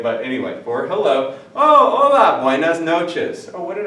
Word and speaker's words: hola: It's not hola, it's not hola, it's hola. You never pronounce the H in Spanish in anything you ever see. So anyway, you say hola, but look real close.